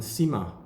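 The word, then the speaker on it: Cyma: And Sima watches. That's a brand from the 1860s as well, from the Jura, Chaux de Fonds. I don't know why it's called Sima, it's C-Y-M-A.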